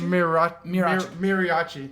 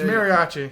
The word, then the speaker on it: Mariachi: It's N. Mirachi? Miriachi. Mariachi. It's Mariachi. Mariachi. Thank you, RJ.